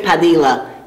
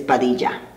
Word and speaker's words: Padilla: So they always say Padilla, but it's Padilla.